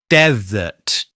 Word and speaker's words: desert: Word number eight is desert. Desert. We stress the first syllable and then use the weak uh vowel sound, the schwa, in the second syllable.